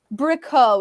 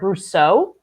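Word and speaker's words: Bricoux: of all i apologize i am gonna correct your pronunciation since i do know this it's robert roger brousseau and when his death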